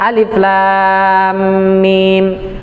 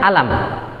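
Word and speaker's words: أَلَمْ: Jadi kenapa di Al-Baqarah itu bacanya alif lam mim, sementara di surat Al-Fil tadi bacanya alam. Dari mana itu terjadi? Karena baris itu dari mana? Dari riwayat. Sahabat meriwayatkan kepada kita di surat Al-Baqarah cara bacanya alif lam mim, bukan alam. Sementara di surat Al-Fil itu bacanya alam, bukan alif lam mim.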